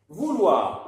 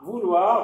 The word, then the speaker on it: vouloir: Vouloir. Les verbes qui se terminent wa, avec wa, mais attention, on voit ir, mais ça ne se prononce pas. On dit wa. Vouloir, donc les verbes qui